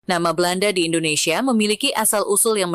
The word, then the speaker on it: Belanda: dan bahasa-bahasa di nusantara kata holanda diucapkan sebagai Belanda huruf ha seringkiali berubah menjadi b dalam pelafalan lokal misalnya seperti perubahan Holland